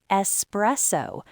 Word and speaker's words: espresso: It's espresso. Remember, espresso, not espresso.